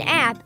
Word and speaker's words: APP: Yeah, I see an app a lot at the doctor's office. I believe it's pronounced APP, and it stands for Advanced Practice Provider.